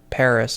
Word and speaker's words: Paris: In English, they pronounce it Paris, but everyone else pronounc it without the S sound like the French do, but with Venia.